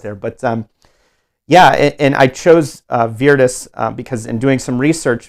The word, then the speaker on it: Virtus: And there is Virtus God, an actual Latin pronunciation of Virtus. We can call it that in English language, but in Latin it was Virtus, with that pronunciation.